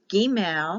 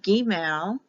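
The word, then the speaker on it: Gimel: next letter is g gmail because the i is pronounced like an e gmail it's spelled with one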